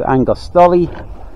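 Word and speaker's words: Argostoli: We're about 82 miles away from, decided to go to Angostoli, that's how you pronounce it, in Kephalonia.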